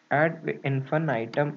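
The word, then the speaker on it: ad infinitum: ADD infinum add infinum add infin item is the correct pronunciation its meaning is to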